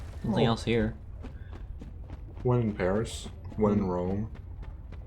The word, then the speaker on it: Paris: It's kind of fucked up that we still call it Paris instead of Paris. Well, why do you say that actually? I don't know, like, cause like we've taken so many French words and we still pronounce them in the French way. It's very true. But Paris is just like, oh yeah, there's an S there, so I guess we gotta say it with an S.